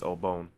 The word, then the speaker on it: Obon: The Japanese celebrate the Obon Festival, which is also known as Matsuri or Uraban, and pronounced Obon, so I pronounced it, or it's not Obon, it's Obon, my bad, which is similar to Halloween festivals in that it is dedicated to the spirits of ancestors.